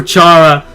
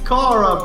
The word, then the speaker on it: Chara: I'm gonna do that for Chara. Chara, it's Kara, bro. Chara. Just say Kara.